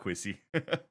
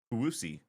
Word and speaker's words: Kawusi: What's up, Quissy? Wait, did I say it correctly? Is it Kawusi? So it's Kawusi.